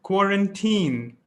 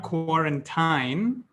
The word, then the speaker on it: quarantine: should bring it here it's pronounced quarantine not core and time quarantine be like a teen because a teen is